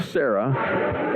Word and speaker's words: Serra: You know I'm pronouncing all of those things correctly. No. It is Ava Serra, S-E-R-R-A, out of Valencia, Spain.